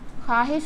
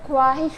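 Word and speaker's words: خواہش: लिखते इस तरह है पढ़ने में अगर आप बिल्कुल न्यू है तो आप इसको ख्वाहिश पढ़ेंगे लेकिन यह ख्वाहिश नहीं है खवाहिश है क्योंकि वाव यहां नहीं पढ़ा जा रहा ख्वाब लिखा इस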